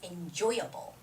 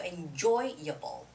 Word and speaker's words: enjoyable: are okay oh taiji the word enjoyable is enjoyable enjoy is the word right so enjoyable enjoyable enjoyable enjoyable enjoyable okay so joy has to be stressed in this word all right so listen